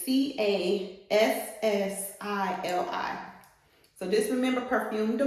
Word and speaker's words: Cassili: But I don't know if you can see the name here, but it's, let me spell it out for you. It's Cassili.